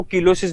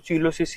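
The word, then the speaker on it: cheilosis: बहुत से लोग इस बीमारी को कीलोसिस भी पढ़ देते हैं, कीलोसिस, तो कंफ्यूज मत होना, हालांकि सही प्रोनाउंसिएशन तो चीलोसिस ही है इसका, सही है।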